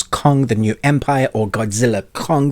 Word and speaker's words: Godzilla x Kong: the new Empire or Godzilla Kong the new Empire because actually the ex is silent just like Hunter Hunter you don't say the X in between for those that are